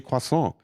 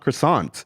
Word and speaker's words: croissant: look at me strange when I say quason and I'm like that's how it's pronounced it's not croissant you know and I